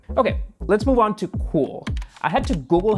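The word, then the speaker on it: Cuil: deserve it okay okay let's move on to cool I had to Google how to pronounce this which is perfectly ironic cool is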